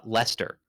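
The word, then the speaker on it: Leicester: There's a there's a city in England that I have never been able to pronounce, if I'm reading it, uh, Lester. Yeah, that's right. It's spelled like Lancaster or something like that.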